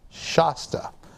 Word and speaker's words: Shasta: He says Shasta like he's from not around here. So the chief operating officer of the company, Robert Price, says Shasta.